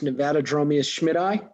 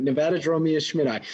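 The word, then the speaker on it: Nevadadromeus schmitti: and now someone just asked how do we pronounce nevada dromio schmidt-eye did i do it you did it i just answered a question all right that's how you pronounce it nevada draw me a schmidt so is there a way that you guys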